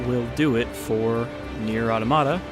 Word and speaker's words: Automata: do it for near automata I know it's automata but I'd like to say it like automata Pia and yeah generally